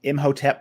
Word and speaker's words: Imhotep: increased by the fact that he learned that i'm hotep was the architect of the first pyramid as well as the first to use stone columns that so far is true imhotep was the first architect of a pyramid and